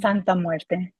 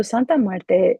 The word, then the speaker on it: Santa Muerte: Santa Muerte. I love the way you say it. Yep. It's Santa Muerte.